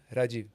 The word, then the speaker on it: Rajiv: similar because there they want to say Rahif because the H. It's a Havits call me. Rejie. It's like a It's like the It's like both E would get pronounced. Rajimon. Rajiv.